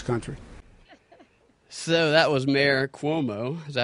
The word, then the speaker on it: Cuomo: So that was Mayor Cuomo.